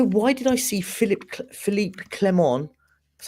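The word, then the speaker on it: Philippe Clement: his tactics why why did I see Philip Philipe clemon that's how you say his name on The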